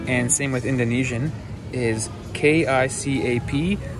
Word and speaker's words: kicap: same with Indonesian is K-I-C-A-P, pronounced as kicap. So in Canada and in North America, the number one sauce is ketchup. And over here, it's soy sauce, which coincidentally almost sounds the same as ketchup.